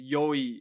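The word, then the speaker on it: よい: I was gonna say it rhymes with boy. Yeah, exactly. It's yoi.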